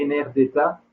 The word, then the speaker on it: Enerdata: connaissez peut-être, qui est Enerdata, on va dire, prononcé à la française, qui est une banque de données construite par l'AIE.